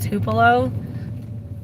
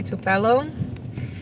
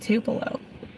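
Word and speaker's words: Tupelo: Alex the city I live in is called tupo but the very first time I ever like came here I would say tupello because that's how I would pronounce it but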